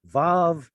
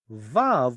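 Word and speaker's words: וָו: Because mem, pay, and bet are bilabials, it tells us that vav was also a bilabial. What? Yeah, a W is a bilabial. Wah. You pronounce it with 2 lips. So that even the Masoretic scribes who, well, I'm not going to say they're the ones who said pronounce vav as v.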